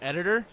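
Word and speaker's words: EDT49EER: I pronounce it editor, but it's spelled edt49 eer.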